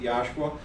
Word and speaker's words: Yahshua: If you don't like us using if you have a problem with us using the physical letters YHSHUA and then pronouncing it Yahshua, we'll just proclaim the principles of his name so that you recognize that he is salvation, mm-hmm.